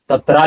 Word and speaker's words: तत्र: और इसका उच्चारण आप कीजिए शब्दों का सही उच्चारण कीजिए यहां पर तत्रा पश्यति अस्थतान पार्थ पितृथ पितामह ऐसा उच्चारण होगा